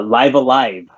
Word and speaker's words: Live A Live: no g10 dink is again yeah that's a live alive that's how it's pronounced live alive is actually the first game